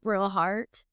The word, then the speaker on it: Brillhart: Today we are here with my friend Brillhart.